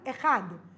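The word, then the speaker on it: אחד: Echad.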